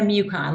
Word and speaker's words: Mucon: Mucon, like Yukon with an M.